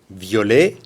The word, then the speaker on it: violet: Violet, masculin singulier, V-I-O-L-E-T. Masculin pluriel, on ajoute le S, violet. Aucune différence de prononciation.